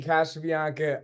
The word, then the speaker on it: Casabianca: A little bit about Casabianca. I'm pronouncing that right?